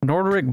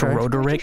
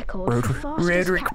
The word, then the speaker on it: Roderick: Nordric Plumpton or something.